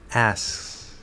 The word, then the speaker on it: asks: And what happens is this creates the illusion that there's a K sound. So instead of asks, we get asks, asks.